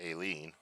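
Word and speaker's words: A Lien: And I predicted Alien. They pronounced it Aileen.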